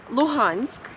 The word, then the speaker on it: Luhansk: Luhansk.